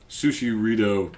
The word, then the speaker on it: Sushirito: Sushirito, spelled like burrito and with good reason.